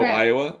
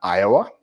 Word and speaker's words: Iowa: from Ohio wait oh Iowa how do you say the State Iowa there's no o in the front of it but it is confusing